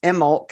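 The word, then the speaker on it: Imbolc: out that's actually as I said last week pronounced emulk and Gaelic um the bee is silent but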